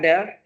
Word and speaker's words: del: Apakah del? Dibacanya del ya.